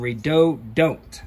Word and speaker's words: Redodo: rather redo do than redo don't all right I did my research redoo red Odo however you want to pronounce pronounce it I pronounce it redo do because you want to